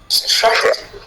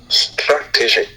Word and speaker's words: strategy: In this case, the stress syllable is strategy strat strategy.